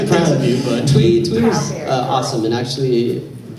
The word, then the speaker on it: Thuy: I was curious, I'm sorry I can't pronounce her name, but the original Yellow Ranger? Is it Thuy or? Thuy.